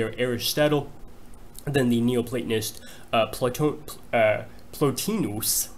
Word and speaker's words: Plotinus: They are Aristotle, then the Neoplatonist Plotinus, I try to give something like the Latin pronunciation, and then Augustine, Thomas Aquinas, and Leibniz.